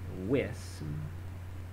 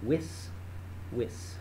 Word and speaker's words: vis: The verb is wis, and I think it's a long I actually. So wis, okay?